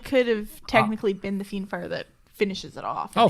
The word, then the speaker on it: Fiendfire: Fiendfire, yep.